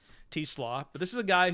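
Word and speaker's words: Teslaa: very unfortunate last name because it's spelled like Tesla with an extra A on it, but it is Teslaw.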